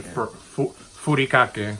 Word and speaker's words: furikake: Look, these spices, these seaweed spices, these are furikake.